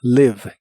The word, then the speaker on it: live: y usaremos el verbo Live que significa vivir Recuerda que se pronuncia con la i corta que suena ligeramente como e live Live y usaremos el